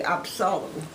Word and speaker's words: Absalom: Well, the pronunciation, no, it would be Absalom.